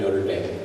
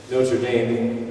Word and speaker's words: Notre Dame: And because Notre Dame, which is a bad French pronunciation of the real way you would say that, it means our mother, our lady, right?